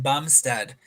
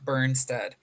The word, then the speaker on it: Bumstead: and my greatest apologies it is Jordan Bumstead not burnstead but we're just doing